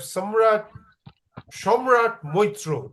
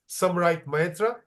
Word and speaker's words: Samrat Maitra: We have Shomrat Moitro, to pronounce it the way the Bengalis would. Samrat Maitra, presumably from Kolkata again, or wherever you're from.